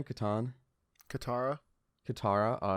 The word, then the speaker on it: Katara: gist of the story is how do you pronounce the girl's name katan katara katara oh it's kind of close so katara wants